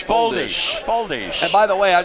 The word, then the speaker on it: Foldes: FOLDES, you say they pronounce his last name? FOLDES.